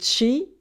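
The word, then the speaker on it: 氣: It is pronounced Qi in Chinese and Qi in Japanese.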